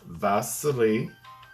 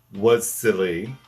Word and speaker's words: Wassily: kind of pioneer silly his name is vasel not Vaseline but it's spelled with a W but you know Russian German it's all V so instead of was silly which his name looks like it's spelled was silly well he probably was